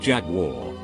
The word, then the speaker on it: Jaguar: were talking cars and I pronounced the make Jaguar douche a bag on the next stool takes the time to lean over and say it's pronounced jack wall friends were quiet they